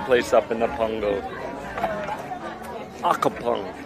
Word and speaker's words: Accompong: Accompong. How do you say this with name? Accompong. Accompong.